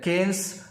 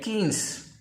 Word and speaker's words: Keynes: It is pronounced as Keynes, like Keynes.